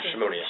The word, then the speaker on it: Szymoniak: This morning, we have, is it Szymoniak? Szymoniak. Szymoniak. Just like it's spelled.